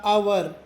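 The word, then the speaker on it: hour: ಇದ್ರೆ ಚಿಲ್ಡ್ರನ್ ಅಂತಾರೆ ಮತ್ತಇದು ಎಚ್ ಓ ಯು ಆರ್ ನ ಉಚ್ಚಾರ ಅವರ್ ಅಲ್ಲ ಅವರ್ ಅವರ್ ಹೇಳಬೇಕು ಎಚ್ ಸೈಲೆಂಟ್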